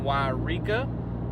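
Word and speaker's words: Yreka: I just left Rain Rock Casino in Wairika. I also learned that that is apparently how that town's name is pronounced, which I was like, sure.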